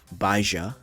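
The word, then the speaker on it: Baizhi: u it's pronounced jeno ba is pronounced baaja didn't know that the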